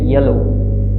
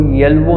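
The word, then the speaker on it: yellow: हम हमेशा पढ़ते हैं येलो। इस लफ्ज़ को हम क्या पढ़ते हैं? येलो। हम इस लफ्ज़ को येल्वो नहीं पढ़ते, हम ये W यहाँ पे प्रोनाउंस नहीं कर रहे।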